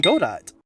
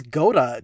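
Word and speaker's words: Godot: I'm going to take inspiration from God dot or good. Where did that pronunciation come from? I thought it's go dot because it's a robot.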